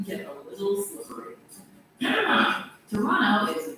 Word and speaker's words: Toronto: Actually, the more Also, by the way, people, the sheeple Toronto is pronounced Toronto.